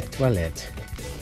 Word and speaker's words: toilettes: There's an S at the end of the word for bathrooms, even though you don't pronounce it. Okay, give that a try. Repeat after Estelle. Les. Les toilettes.